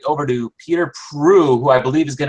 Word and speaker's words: Proulx: Prue, right? Prue, yes. It's the and the are always silent, but thanks for inviting Warren and I here tonight.